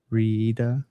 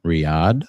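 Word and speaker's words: Riyadh: Iben Saud uh Iben Saud uh leads 40 men over the walls of Riida Riyad or Riyad um and takes the city beginning the third Saudi state.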